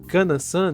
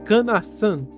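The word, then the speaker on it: かなさん: mesmo sendo jovem, mas fala que ele havia pronunciado Kanansan de forma errada, sendo certo falar Canassan dando um enfoque no san.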